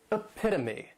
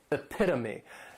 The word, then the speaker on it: epitome: a catch-22 next is epitome and this noun has four syllables and the stress is on that second syllable epitome this is a word